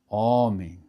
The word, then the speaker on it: homem: A letra H em seguida, a letra H não tem muita complicação porque na verdade não tem som, né? Por exemplo, humanidade, né? Homem, né?